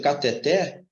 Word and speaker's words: cateter: regra dessa situação errada por exemplo cateter ela é uma palavra oxítona e oxítonas terminadas em